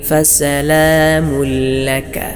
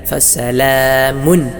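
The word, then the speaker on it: سلام: ഉന്നത്ത് കൂടാതെ ഇദ്ഹാം ചെയ്യണം അതിനാലും ഇവിടെയും ഓതേണ്ടത് ഫസലാമു എന്നാണ് അല്ലാതെ ചിലർ ഓതുന്നതുപോലെ ഫസലാമു എന്നല്ല ഫസലാമുക്കലാമുക്കിൻ അസ്ഹാബിൽ ഇവിടെയൊക്കെ മണിക്കണം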